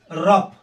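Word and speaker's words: rough: कैसे होता है आर ओ य जीी एच रफ अब जी एच को यहां पे फ पढ़े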